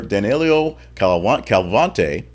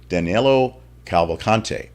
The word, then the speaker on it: Cavalcante: Pennsylvania jail where Danilo Calvante, got a chance to say it again and butchered it, escaped, will spend millions on security improvements. Danilo Cavalcante, say it properly.